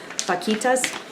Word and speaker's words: vaquita: It's spelled with a V, but I think the pronunciation is closer to a B, so it'd be Vaquita.